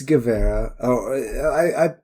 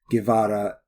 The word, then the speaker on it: Guevara: Or is it Guevara? It's Guevara. Guevara. The V's are closer to B's in a lot of Spanish accents, but I don't know how to say it that way.